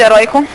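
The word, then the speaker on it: heroico: Qual é a sílaba tônica de heróico? Roi.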